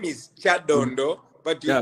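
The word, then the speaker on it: Kyadondo: name wrong uh that no the name is Chad Dondo but you pronounce it in a very interesting way and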